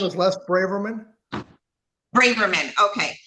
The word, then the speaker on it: Braverman: How do you pronounce the last name? Last name. My last name is Les Braverman.